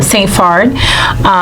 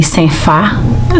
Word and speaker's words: Saint Phard: Saint Phard. If you were to say it in Haitian Creole, it would be Saint Fa.